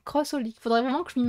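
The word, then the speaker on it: xxxHOLiC: Crossolix, on prononce. Ah. Ouais, ça me fait bizarre de dire ça, mais c'était parce que j'ai l'habitude de dire XXX, mais c'est en même temps, c'est bizarre. Crossolix, faudrait vraiment que je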